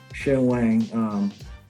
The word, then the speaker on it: Shen Wang: That's how he pronounced his name, Shen Wang. I think he's if you say it the right, if you say it in Mandarin, you'll be Shen Wang. Shen Wang. But he says Shen Wang.